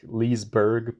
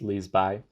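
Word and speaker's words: Liseberg: amusement park it's called Liz by Leesburg it's like Leesburg but it's pronounced Liz by but it was [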